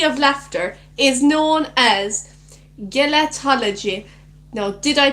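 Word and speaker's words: gelotology: Gelatology. Gelatology. That makes so much more sense. It's a soft G.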